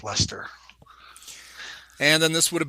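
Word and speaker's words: Leicester: that's how they say that's how they pronounce that in England as Lester and then this would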